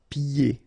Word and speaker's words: pieds: And then when you get this combination here, it's ye. Pieds. Okay, so you don't hear the D.